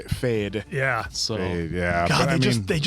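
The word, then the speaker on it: Feyd: Fade.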